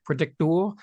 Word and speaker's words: Predictoor: How are we pronouncing that Predictoor? The way it's spelt, which I guess is kind of a play on the crypto Twitter meme.